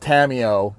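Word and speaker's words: Tamiyo: getting more tamio Scyther it's pronounced tamio Tam e o o and then our third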